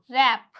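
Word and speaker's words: wrap: sound दे रहा है एक और रूल देखिए अगर डब्लू के बाद आर आए तो डब्लू साइलेंट रहेगा अगर डब्लू के बाद क्या आ रहा है आर आ रहा है तो डब्लू क्या हो जाएगा साइलेंट हो जाएगा एग्जांपल रैप रक तो यहां पे हम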